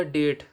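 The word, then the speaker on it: debt: जैसे यह टी है इससे पहले बी आ गया तो यह हमेशा साइलेंट रहेगा जैसे डी ई बी टी क्या होगा डेट डी ओ यू बी टी डाउट अब डी कहां पर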